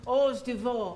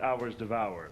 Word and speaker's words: hors d'oeuvre: find us a waiter and get you some hors d'oeuvre. I think it's pronounced. What? Hors d'oeuvre. You never heard of them? I'll try anything once. Let's do it. Right? It's actually pronounced hours devoured.